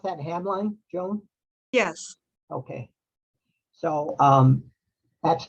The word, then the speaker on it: Hamline: You pronounce that Hamline, Joan?